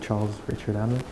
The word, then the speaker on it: Charles Richard-Hamelin: can go towards that my name is Charles Urschel Alicia Hamlin is the right way to say it you can in English it would be Charles Richard Allen well I'm from Quebec